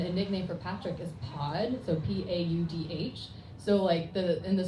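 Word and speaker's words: Paudh: So one of the characters' name is Patrick, and a nickname for Patrick is Pod, so P-A-U-D-H.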